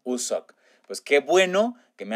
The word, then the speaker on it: Wooseok: Y se pronuncia más como Usok.